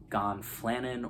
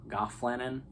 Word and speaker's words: gonfanon: want to talk about is the gonfanon some people pronounce it gonflanin or gofflanen there's many different ways and you may not